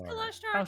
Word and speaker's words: Kalashtar: It's Kalashtar, Kalashtar.